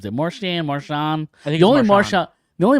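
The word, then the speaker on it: Marchand: he's Canadian yes um there's D also at the end of it that just you just don't pronounce it it's Mar silent yeah um yeah no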